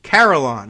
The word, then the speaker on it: carillon: Carillon. Okay, there you go. So like Caroline, but bells.